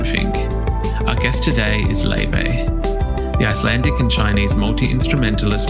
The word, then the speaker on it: Laufey: It's pronounced Laufey. I thought Laufey.